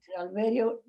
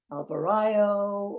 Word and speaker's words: Alverío: - Alverío. You cannot pronounce that name properly. Nobody. Avrayo, Alvez, Alvarez.